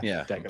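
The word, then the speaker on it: Daigneault: And if he's able to outcoach, was it Dagnall? Is that how you say his name? Yeah. Dagnall.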